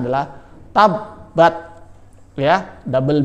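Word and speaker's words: تَبَّتْ: Cara bacanya adalah rabbuka, double B ya, B-nya ada 2 sehingga ditekan.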